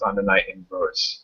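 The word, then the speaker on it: Under Night In-Birth: in in verse way it's spelled undernight in birth but it's pronounced undernight inverse yeah it's like the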